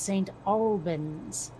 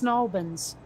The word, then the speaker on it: St. Albans: No, because it's pronounced St. Albans. Oh, okay. Petrata. Yeah, or to hear people from Colchester say it's Snalbans. Okay. Well, because, it like, okay, we don't say the T's.